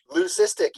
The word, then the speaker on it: leucistic: going to correct me leucistic is that how you say it somebody's going to correct me is that right acoustic like I can't never say that word lucistic you got it Liz thank you okay